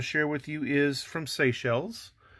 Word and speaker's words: Seychelles: you is from seychelles no i didn't say seashells i said seychelles and you're not going to believe how i used to pronounce this country when i was but a child i pronounced it sacres and i don't know